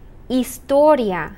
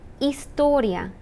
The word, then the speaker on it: historia: Geography, geología, geology, historia, the H is silent, historia, history, informática, computer studies